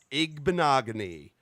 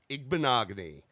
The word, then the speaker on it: Igbinoghene: This next guy is from Trussville, Alabama, a junior from Auburn University, Noah Igbinoghene. That's how you say it, folks. Noah Igbinoghene.